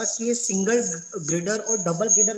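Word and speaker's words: girder: major जो difference गडर बोलिए गटर ग्रेडर ग्रेडर बोलिए गडर मत बोलिए हेलो हा सर एक्ली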